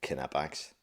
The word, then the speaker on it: Knipex: and yes, it's pronounced Knipex. You pronounce the K, same way as you pronounce the L in solder.